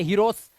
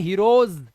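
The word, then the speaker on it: heroes: इसे हीरोस नहीं पढ़ते हीरोस इसे पढ़ते हैं हीरोज ज तो ज आता है लास्ट में हीरोज यह देखो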